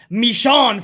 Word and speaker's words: Michonne: coffee on me and by the way it's pronounced michonne from the walking dead what i call michonne